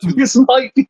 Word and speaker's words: Atout: speaking out against Alicia Atout. This might be worse than every time I've made you say Lofty Tannis Del Aire. Look, it's how they say it, and it's what a toot is.